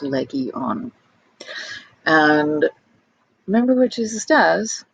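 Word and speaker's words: λεγιών: is a legion and because there's no word for it in greek it's actually spelled out phonetically my name is leggy on and remember what jesus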